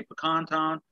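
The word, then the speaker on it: Pakan Town: So it's kind of hard to say Pecan Town when it actually, most people know it as Roostertown.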